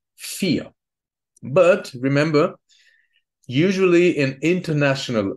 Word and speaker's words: vier: The third rule is in originally German words, the V is pronounced like f, just like in the number vier.